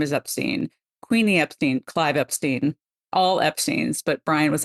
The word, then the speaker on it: Epstein: uh that's not how you say it it's Epstein and today you guys are going to get